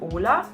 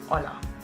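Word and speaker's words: hola: Also, ja, das O wird immer O ausgesprochen, wie zum Beispiel bei Olla. Das ist nicht Ola, sondern Olla.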